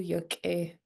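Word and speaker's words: yak'éi: That apostrophe after the K means that you need to pinch it, and I feel I can hear you guys doing that good. So that's good. This pinched K.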